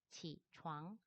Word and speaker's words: 起床: 잠에서 깨어나는 것을 지추앙이라고 발음을 합니다. 지추앙. 얘는 창에 가깝게 발음을 해주시면 되고요. 얘는 우앙이니까 창에 가깝게 발음을 해주시면 되겠습니다.